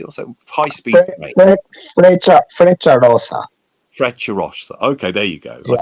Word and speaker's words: Frecciarossa: He's been like, he went on the, how do you pronounce the trains in Italy? Federico Rossi or something, high speed train. Frecciarossa.